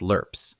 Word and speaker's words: LRRP: The soldiers who carried them out were called long range reconnaissance patrol teams, LRPS, pronounced lur.